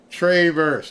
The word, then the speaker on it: Traverse: they pronounce the city it's not Traverse it's Travers tra Travers Michigan I